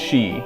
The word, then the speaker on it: Sidhe: for those not familiar, that word there is pronounced she, or something like it at any rate.